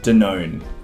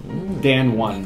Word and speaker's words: Danone: Danone. Danone. Yeah, Danone. So how do you, know how you spell it? D-A-N-O-N-E? D-A-N-O-N-E. I said it differently, but Dan won.